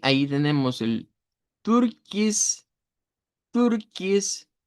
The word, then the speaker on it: Türkis: Türkis. Ya con tu, tu, con u, u, como hacer la i y la u al mismo tiempo.